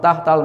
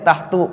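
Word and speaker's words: تحت: tahta artinya di bawah tahtal maktabi di bawah meja paham tahta ini mengkasrkan isim setelahnya dan dia dibacanya fathah enggak boleh tahtu enggak boleh ya boleh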